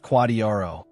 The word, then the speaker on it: QDRO: You need a special separate legal document called a qualified domestic relations order or QDRO pronounced quadrro.